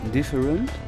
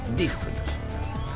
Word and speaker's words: different: Different. Different. Different. En anglais, le T à la fin du mot se prononce. Different.